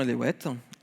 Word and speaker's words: Eléouette: Je m'appelle Eléouette. Il y a une prononciation à la bretonne.